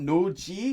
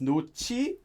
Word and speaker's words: 놓지: Now I should point out that due to the sound change rules, this is actually pronounced like chi. So it's not no-ji, it's no-chi.